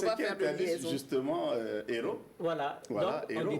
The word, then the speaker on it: héros: Quand je dis hôpital, le H est muet, mais héros, le H ici est aspiré.